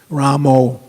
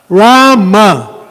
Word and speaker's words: Rama: I also get on a lot of these devotees when they're chanting Ramo. There's no O in Rama. But there's no H either. So if we just chant the syllables as they are. Hare. Krishna. Rama.